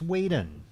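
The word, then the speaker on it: Whedon: weden how do you say it weden it's weding isn't it I'm going to a weding yeah it's weden I'm sure it's weding it's Weeden it's weden it's 100% Weeden I've been saying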